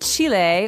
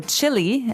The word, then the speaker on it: Chile: So, Brazil, Brazilian in this country there are many Brazilians and Chile or Chile as many Americans say um has people called Chileans.